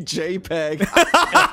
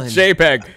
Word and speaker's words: JPEG: Someone wrote JPEG. The P is silent. Jag.